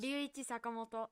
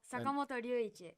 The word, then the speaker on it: Ryuichi Sakamoto: Ryuichi Sakamoto. Sakamoto Ryuichi. And how would you say it like an American? Ryuichi Sakamoto.